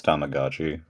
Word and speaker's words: Tamagotchi: Tommo Gochi. Tomagotchi. Yeah. I I ain't saying that's how he pronounced it. I don't know. That's how I ain't saying that. It's Tamagotchi.